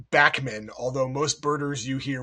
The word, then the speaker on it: Bachman: of this bird uh went by the name Bachman, although most birders you hear will say Bockman.